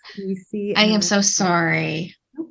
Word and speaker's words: Dina: So my first name is pronounced Dina. I practice her last name, people. I know, it's hilarious. So yes, but thank you. It's Dina. Dina.